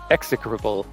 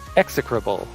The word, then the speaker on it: execrable: comes through if you can hear it it's pronounced execrable by somebody who strangely sounds a lot like my voice execrable is how you pronounce it uh the organ is Out Of Tune the singing execrable the vicer is hardworking sincere and a cheerful